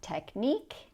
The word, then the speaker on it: technique: And next we have technique, unique, antique. These sound like eek.